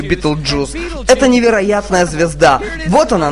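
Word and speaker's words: Betelgeuse: Она называется Beetlejuice или Beetlejuice. Произносить можно по-разному, я называю ее Beetlejuice.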